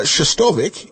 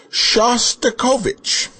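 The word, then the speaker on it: Shostakovich: nice man called and told you how to pronounce it correctly, you still kept saying wrong." It's not uh Shtovvic, it's Shastikovich.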